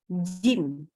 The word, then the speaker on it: ج: semua pakai Tengah lidah hati-hati huruf j sering sekali kita sebagai orang Indonesia itu mengatakannya dengan ujung lidah sehingga otomatis bacanya begini ada percikan udara seperti huruf C Jadi kalau C kita kenal huruf C dari dalam bahasa Indonesia itu adalah huruf pakai ujung lidah gitu ya jadi kita agak seru yang mana huruf huruf jnya kita memang jadi kecampur ya bukan sama dengan orang Arab padahal makhorijul huruf Jin itu harus tengah lidah sehingga Makanya kalau kita